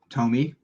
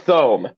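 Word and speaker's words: Thome: screwing up the names how would you pronounce t-h-o-m-e tomy i pronounce it thumb nope jim tomy t-h-o-m-e yeah okay well i i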